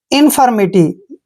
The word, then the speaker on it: infirmity: देखिए IN को हम पढ़ रहे हैं इन, और यहाँ पर FIR का उच्चारण फिर नहीं करना है, फर, फर, MITY, मिटी, MITY, मिटी। इन्फर्मिटी।